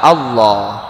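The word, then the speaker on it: الله: yang menentukan harkat sebelumnya berarti kalau harkat sebelumnya fathah atau dhomah maka lam lafaz jalalah dibaca tebal Allah kalau sebelumnya harkat kasrah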